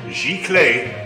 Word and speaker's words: Giclee: It's pronounced Giclee.